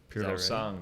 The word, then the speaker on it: Purosangue: Purosangue, right? You have to say it like an Italian.